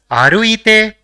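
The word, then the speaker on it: あるいて: So it will be pronounced as aruite, which is actually the te form of the verb arukimas, which means to walk.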